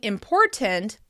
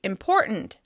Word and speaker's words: important: Instead of saying "important," we often say "important, important."